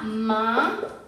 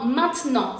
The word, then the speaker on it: maintenant: usarás muchísimo, significa ahora y se pronuncia maintenant con sonido nasal. Esta E en la realidad no la vamos a pronunciar mucho porque nos gusta hablar rápido, entonces lo vas a escuchar como maintenant, significa ahora, lo repito.